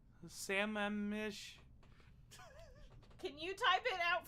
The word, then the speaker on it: Sammamish: is in samarish salmonic samanish salmon mish i don't it's not salmon there's no l there sam mish can you type it